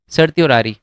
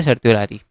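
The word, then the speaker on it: certiorari: ठीक है, सर्त्योरारी ये एक फ्रेंच वर्ड है, तो इसी की वजह से इसको मैं सर्त्योरारी पढ़ रहा हूँ। अलग प्रोनाउंसिएशन भी हो सकता है, या वैसे तो है नहीं, बट ठीक है।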